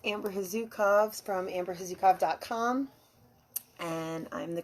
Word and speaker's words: Chazukow: So if you guys don't know who I am, my name's Amber Hazukov. It looks like Chazakau, but that's how it's pronounced.